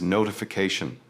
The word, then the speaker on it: notification: Next is notification. A long word, but focus your stress on the CA sound.